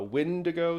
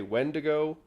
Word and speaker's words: Wendigo: to say this yes it has like six different pronunciations some people say it's a wind ago some say Wendigo I've heard a few other variations but you have to